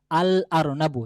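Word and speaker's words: الأرنب: যদি আমি বলি এই আরনাবুন শব্দের আমি শুরুতে আলিফ লাম নিয়ে আসি তাহলে বলব আল আরনাবু। তাহলে আল আরনাবু এখানেই আলিফ লামটা উচ্চারিত হচ্ছে।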